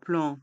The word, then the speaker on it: plan: Un plan de métro. La ligne 14 du métro, la ligne A du RER. Dans le mot plan, les lettres A et N se prononcent en. Un plan.